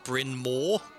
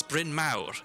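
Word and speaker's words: Bryn Mawr: pain is um the the college Brinmore, which is not Brinmore, it's Brin Mau. It's Welsh. It means large hill.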